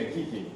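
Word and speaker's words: Geeqie: So the only ones I really knew of were Geeky. Somebody pronounces for me, Geeky, I don't know. Yeah, Geeky.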